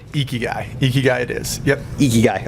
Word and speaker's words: Ikigai: having me appreciate it did I make the pronunciation on your firm correctly geeky guy geeky guys it is yep you guys okay perfect and